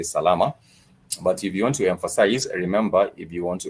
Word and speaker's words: salama: We figured it's very very easy to remember has three syllables. Sal which means well. So if someone is asked how are you doing you can respond and simply just say salama.